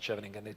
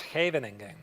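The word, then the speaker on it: Scheveningen: No, no, no, it's not Shving. It's Havening.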